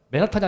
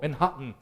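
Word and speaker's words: 맨해튼: 맨하탄이 아니고 맨하튼. 맨하튼 이렇게 하거든요. 맨하탄인데 한국말로 맨하탄이면 맨하튼이라고 해서 살짝 발음을 끊는데 여기 고층 빌딩의 높이가 몇 미터?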